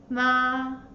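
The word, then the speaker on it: 妈: Ma. Ma. You can move the hand like what I do. The first tone, ma. Ma.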